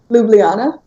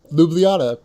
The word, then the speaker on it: Ljubljana: most recent one I should have checked the pronunciation for the capital city of Slovenia go for it say again Ljubljana Ljubljana awesome there you go so they just canceled